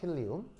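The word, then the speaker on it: helium: 이게 뭐냐면 그냥 그대로 그냥 뭐 발음 나는 대로 읽는 건데, 정확한 발음은 힐리움입니다. 힐리움 아시겠죠? 힐리움.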